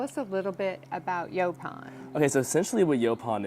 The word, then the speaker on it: Yaupon: Yaupon. I always say it wrong. Yaupon.